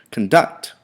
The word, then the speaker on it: conduct: So conduct has two syllables, 1, 2. Conduct, with the accent or the emphasis being made on the second syllable, conduct.